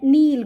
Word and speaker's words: kneel: नेल्ट का meaning होता है नील, घुटनों के बल, झुकना, KNEEL. नील फर्स्ट फॉर्म होती है, नेल्ट सेकंड फॉर्म होती है, और नेल्ट थर्ड फॉर्म होती है. नील, नेल्ट, नेल्ट, के साइलेंट होता है इसमें.